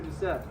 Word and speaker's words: Decep: Officer Decep. Decep? Decep, yeah. Decep, okay. Yeah, it's spelled weird. Okay. But it's pronounced Decep.